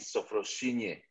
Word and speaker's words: Sophrosune: Sofrosun, ya yeah, semoga benar bacanya ya. Sofrosun. Nanti bener nggak mau baca, bener nggak sih mau? Oh, kalau bahasa Yunaninya harus pakai Y, sofrosinye.